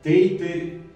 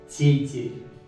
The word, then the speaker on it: тейтер: Его русские часто читают как «тейтер», «тейтер», «тейтер» и так далее. Нет, оно читается как «тейтер». Все смягчается. «Ты» смягчается, «ты» смягчается и «р» смягчается. Помимо этого, в арзианском языке существует такая черта, как полногласие.